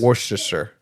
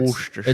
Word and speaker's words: Worcestershire: Worcestershire. You don't say the first R. Yeah, It's- Worcestershire.